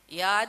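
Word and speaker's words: Yaad: rather and yard Empire so there's a difference yard y a a d yes so we have to pronounce it that way and of course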